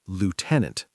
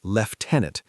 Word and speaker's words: lieutenant: American, lieutenant. British, lieutenant. The U becomes an F sound in British English.